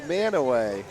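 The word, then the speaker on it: Mantua: no oh yeah manway Mana pronounced manway cuz again it's Ohio just do whatever you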